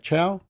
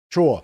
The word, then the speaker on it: Chhour: And just to give you some background, 2 years ago, Karen Chhour, is that how you say it? Chhour, who was the Minister for Children. Chhour.